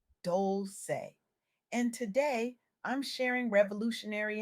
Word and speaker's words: Dolce: I'm Dolce, pronounced Dolce, and today I'm sharing revolutionary insights from my